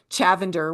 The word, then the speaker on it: Chavander: So, Jenny is the chief visionary officer at Chavander, which rhymes with lavender.